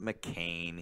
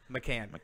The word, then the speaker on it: McCann: Escobar, McCain, Nagby, who I totally not McCain. He's not 60-something, 70-something years old in the Senate. McCann.